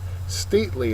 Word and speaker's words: stately: Stately is next, and I have no idea who this is in the picture, but they're pretty stately. That's all I know. Adjective, first syllable, accented, means dignified or majestic.